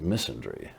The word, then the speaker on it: misandry: Well, the equivalent, the corollary term for being anti-male is called misandry. It kind of rhymes with misery.